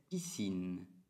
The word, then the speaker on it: piscine: Piscina, en français, piscine.